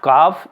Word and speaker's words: calf: तो CALM काम, CALF काफ, इसमें L साइलेंट है, इसमें भी L साइलेंट है, सभी में L साइलेंट होगा।